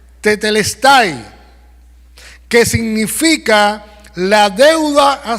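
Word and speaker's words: τετέλεσται: es en el idioma original la palabra se pronuncia tetelestai que significa la deuda ha sido pagada alguien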